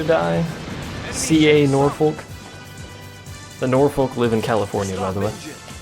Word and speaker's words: Norfolk: Apparently that's pronounced Norfolk?